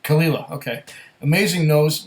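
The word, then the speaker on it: Caol Ila: says I bought the Cole khila okay it's spelled c a o l it's not Cole but kalila okay amazing nose not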